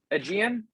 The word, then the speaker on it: AIgean: aegean uh is pronounced much like um the sea and archipelago around the mediterranean and yeah as you